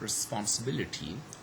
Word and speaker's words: responsibility: then we have got responsibility where actually the four syllable is stress respond say ability ability